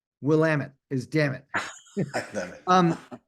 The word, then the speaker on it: Willamette: It took me a number of years, Steph, to learn how to pronounce that. It's Willamette. I won't try. People want to say Williamette, I wanted to say Williamette, but it's actually Willamette.